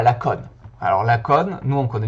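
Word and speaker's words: Lacaune: Tout d'abord, Monsieur Bonafé, il est né à Laconne. Alors Laconne, nous on connaît bien parce qu'on est dans le Tarn. Pour ceux qui tomberaient sur cette vidéo et qui ne connaissent pas le Tarn, Laconne, c'est le meilleur endroit au monde.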